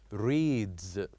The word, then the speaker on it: reads: them like this word reads reads reads ends with the sound of z z reads and also the second